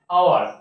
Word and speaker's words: hour: যেমন এইচ, এটা এইচ দিয়ে শুরু হচ্ছে কিন্তু আমরা উচ্চারণ কি, এইচটা সাইলেন্ট থাকছে, আওয়ার, সেই জন্য আমরা লিখছি এন।